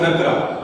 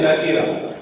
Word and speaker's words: نکرہ: بعض طلباء کہتے ہیں کہ اس میں معرفہ اور اس میں نکرہ، حالانکہ تلفظ درست یہ نہیں ہے، بلکہ تلفظ درست یہ ہے کہ اس میں معرفہ اور اس میں نکیرہ.